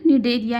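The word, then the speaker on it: Cnidaria: इसको एस लिखते हैं। सी लिखते हैं। सी इसमें साइलेंट होता है। तो सी एन आई डी ए आर आई ए। ठीक है? निडरिया।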